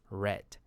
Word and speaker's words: read: is read, but in past participle it is pronounced as read.